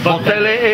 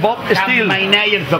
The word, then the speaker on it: Bob Steele: Claro, Bob Tele es Bob Steele.